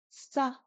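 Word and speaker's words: ས: And then finally sa. Sa. This is like an English s.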